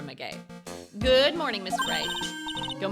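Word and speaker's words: Maggey: do it it's meay her name is Maggie but it's spelled m a g g e y so we've been calling her meay good morning Mr Ray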